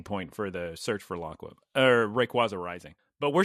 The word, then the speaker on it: Laqua: I was worried that the episode where they caught Rayquaza and they were like, off to Raqua, or how do you say it? Laqua.